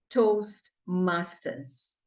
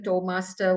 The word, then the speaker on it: Toastmasters: are in a club that is called Toast Masters it is not Toastmaster toll Master whatever Master you're calling it please at least get